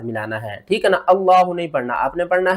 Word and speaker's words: اللہ: وہ پڑھتے ہیں اللہ، یہ اللہ نہیں پڑھا جائے گا، اس کو ہم صحیح طریقے سے پڑھنا سیکھتے ہیں اور ہجے بھی کرتے ہیں۔ کس طرح؟ حمزہ لام مد کھڑا زبر آ، لام کھڑا زبر لا، ہا پیش ہو، اللہ۔ یہاں پر دیکھیں تو